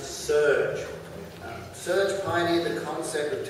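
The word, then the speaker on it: SERG: moore next up is the sustainable energy resource group pronounced surge surge pioneered the concept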